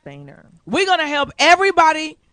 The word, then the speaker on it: Boehner: like Boner, but it's pronounced Boehner.